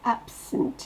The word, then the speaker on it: absent: Dans absent, c'est ab qui explose. Le sunt, on l'entend quasiment pas. Le E ne se prononce pas, ça fait sunt.